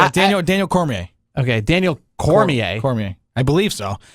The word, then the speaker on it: Cormier: it's call me a I mean the R is silent no core may they know core may Daniel call me a Cormier it the r is event that r is that r is not silent Daniel Daniel Cormier okay